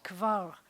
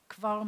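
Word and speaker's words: כבר: we could do this we have a cup with a moving schwa so it sounds like cut altogether we have that same fo and then an AH cava and then we've got a rounded rash so it's kivar kivar means already I already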